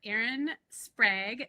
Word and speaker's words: Erin Sprague: I'm here with Camp and our guest today, we are so excited to have Aaron Sprag. Did I pronounce that right?